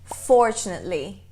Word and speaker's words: fortunately: A ênfase é na primeira sílaba. Fortunately. E essa?